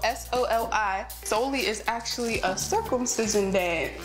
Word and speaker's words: Soli: says so we're gonna do a dance called slowly it's spelled s-o-l-i solely is actually a circumcision that um too much